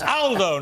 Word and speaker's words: Aldo: picked me up but it's Aldo not older Aldo's a very British pronunciation in Italian uh good to see